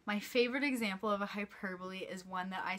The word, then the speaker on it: hyperbole: here because it looks a little bit like hyperbole but I promise you it is pronounced hyperbole and this is another one of my favorites